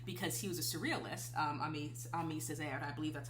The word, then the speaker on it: Aimé Césaire: on Salvador Dali because he was a surrealist, Aimé Césaire, I believe that's how you pronounce his name.